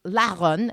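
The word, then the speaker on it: Larrun: rhu n e mhm which is the French way of spelling the word that is actually Basque which is lon which is l a r Ru n and it's a mountain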